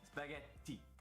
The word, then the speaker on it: spaghetti: the double consonant sounds any double consonant sound has to be pronounced longer and stronger and we can hear